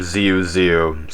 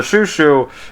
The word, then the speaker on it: Xiu Xiu: I also pronounced their band name Xiu Xiu, so my bad. Thank you to the commenter that corrected me.